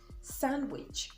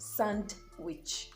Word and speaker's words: sandwich: handsome and not handsome you also have this island in sandwich sandwich and not sand witch let's move on quickly